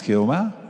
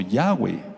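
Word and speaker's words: Yahweh: ya están reconociendo que el nombre que ellos pronuncian del todopoderoso no es así no es jehová ni jesús sino ya way y ya se han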